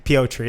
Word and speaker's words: Petr: Yeah, Piotr. That's how they pronounce it.